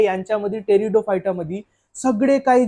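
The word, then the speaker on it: Pteridophyta: तो म्हणजे आपला टेरिडोफायटा टेरिडोफायटा स्पेलिंग जरी पी पासून चालू होते तरी आपण टेरिडोफायटा म्हणू पी टेरिडोफायटा नाही म्हणणार आता पहा सगळ्यात पहिले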